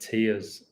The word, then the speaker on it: tiers: Tiers is pronounced the same way as tears. It's just spelt differently.